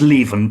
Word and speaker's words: Lieven: It's Lieven, but don't worry, I'm used to every possible pronunciation.